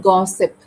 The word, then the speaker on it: gossip: That is the word gossip. So go go, and sip, no ship.